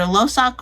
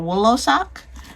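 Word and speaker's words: Wlosok: I don't know if the W is silent. So either Losak or Woolosak.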